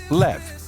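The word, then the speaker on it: לב: Quem hebraico se pronuncia levad ou na sua forma curta leve.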